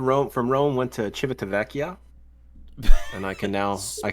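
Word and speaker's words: Civitavecchia: Rome went to Rome from Rome went to chivatavecchia and I can now I can now pronounce uh yeah I can I I can't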